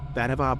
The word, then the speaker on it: Vannevar: Is that how you pronounce his name? Yeah, isn't that your name on Grindr? Vannevar Bush, yes, that's my drag name.